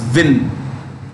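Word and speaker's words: Nguyễn: This is pronounced Win.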